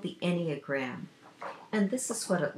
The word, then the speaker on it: Enneagram: Okay, I also wanted to mention to you for my best tool in relationships is called the Enneagram, and this is what it looks like. It's spelled E-N-N-E-A-G-R-A-M.